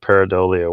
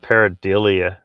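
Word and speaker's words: pareidolia: was the other day someone just kept pronouncing it wrong they kept calling it paradilia uh michael says donald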